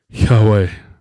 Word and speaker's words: Yahweh: when you pronounce it Yahweh it's supposed to sound like a breath which comes down to